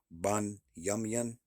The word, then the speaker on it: Benjamin: Next tribe is Benjamin. Uh how you pronounce that is Byamian.